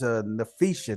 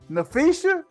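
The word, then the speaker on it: Napheesa: And it's crazy how they pronounce her name, but her name is Nafisha, not Nikisha.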